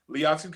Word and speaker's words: Liatu: Liatu King. Very good. Le I did it. I did it right. Say it correctly. Latu King. Close enough. The eye is silent.